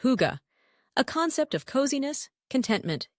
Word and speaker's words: hygge: the conditions for what the Danes call hygge, pronounced hygge, a concept of coziness, contentment, and well-being.